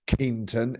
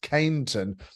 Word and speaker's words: Canon: Keenan keian economics but it's not pronounced Keon it's pronounced Canon the Canon euphonium right